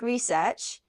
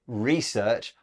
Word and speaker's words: research: a note about pronunciation Beth you said research I say research it's just a change in word stress and both are fine now the headline we